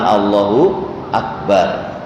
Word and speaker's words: Allahu Akbar: Allahu Akbar. Dan harus benar latihan mengucapkan dengan benar di luar salat ya. Itu Allah an-nya jangan panjang jangan Allah.